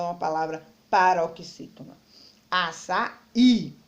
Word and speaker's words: açaí: Açaí, ele tem acento, facilita a minha vida, é a última sílaba, então ele é oxítona.